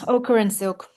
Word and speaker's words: Ochre and Silk: Okra and Silk.